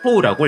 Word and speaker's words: 刀: 음독은 토우라고 읽습니다.